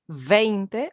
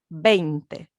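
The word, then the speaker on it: veinte: à ne pas oublier quand vous prononcer pour les vingtaines que lever se prononce comme un bep donc on va pas dire venez on va dire ben t'es d'accord à partir de 30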